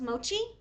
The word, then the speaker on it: Mochi: So, I think it's pronounced mochi. Mochi? Mochi. Mochi sounds better. It's Mochi magazine, right? It's called, what the, dude, it is Mochi.